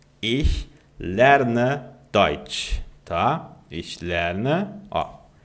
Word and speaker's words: ich: E e tá o a pronúncia desse ch no idioma alemão do I. Basicamente você vai fazer o de cachorro no português, mas com a língua travada atrás dos dentes aqui de baixo. E ó. Ih. Ih.